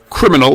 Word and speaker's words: criminal: Remember, the I is pronounced as an E, so we have cri rather than cri. Cri, mi rather than mi. Cri, mi, and nal rather than no. Criminal.